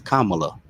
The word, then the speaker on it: Kamala: Please say her name right. Talk Give about that woman her credit. Kamala. Kamala. See, it's Kamala.